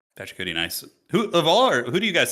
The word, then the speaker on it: Pachacuti: Pachacuti. Pachacuti, nice.